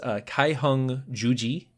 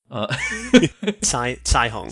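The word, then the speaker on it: Caihong juji: This is Kaiheng Juji, is how I would pronounce that name if forced to. Caiheng. Caiheng? All right. Yeah. I like that better. That's pinyin.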